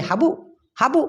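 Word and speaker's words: habuk: Malaysian ভাষায় বলা হয় হাবুক হাবুক তবে আমি যেরকমটা উচ্চারণ করলাম হাবুক মানে কটা খুব ঠেসে ধরেছি মালয়েশিয়ানরা এতটা ঠাসে না ওরা বলে হাবু হাবু মানে কম না বলে ওরা একটা ধাক্কা দেয় অনেস্বারের মত এরকমটা হয়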